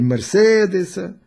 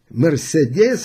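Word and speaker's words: Mercedes: Вот он купил модель Мерседеса. Мерседес – это неправильное ударение в Германии, Мерседес, или БМВ купил, или какую-то новую Volkswagen, хотя это нет, или Audi и так далее, и так далее.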